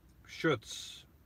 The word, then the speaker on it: Chutz: It's pronounced the same as shoots, as in he shoots the ball. Oh, look, he looks like he was reading my mind. Schutz.